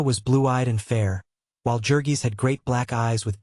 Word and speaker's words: Jurgis: with the mighty shoulders and the giant hands pronounced yorgis Ona was blue-eyed and fair while jurgis had great black eyes with beatling brows and